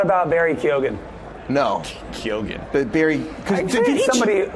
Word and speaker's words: Keoghan: No, Kyogen.